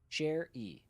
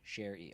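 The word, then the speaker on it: Sherrie: Share e like a musician. Share e. Okay. Share. So, it is s h e r r i e is a a similar pronunciation.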